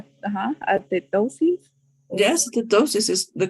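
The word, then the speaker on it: athetosis: How do you this pronounce one. it? Like atetosis?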